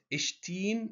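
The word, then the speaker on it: ϣⲑⲏⲛ: يبقى لو جه قبله شاي او سيما بننطقه ت. زي كلمة اشتين.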